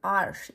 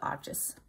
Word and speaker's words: Arches: This was Arches, actually 100% cotton paper, torchon, or sorry, Arch is called Arch, not Arches.